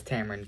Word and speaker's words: Tamron: Uh, it's spelled with a Tameronford. I was named by my father. Instead of Cameron, he chose Tamron because it was more unique.